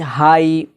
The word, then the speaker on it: high: जैसे HIGH, हाई, हाई, GH यहाँ पर साइलेंट हो गया।